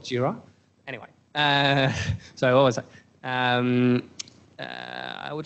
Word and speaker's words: Jira: engineer's mind so anyway they always pronounce gyro and we kind of have to subtly correct them that's called JIRA anyway so always I